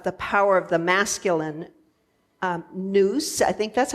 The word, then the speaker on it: nous: Greek ideas of the power of the masculine, nous, I think that's how you pronounce it, N-O-U-S, which is the mind, over the feminine, which is the atheists, A-E-S, thesis, which is sense.